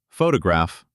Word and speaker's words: photograph: For example, photograph. The stress is on the first syllable. Photograph, not photograph.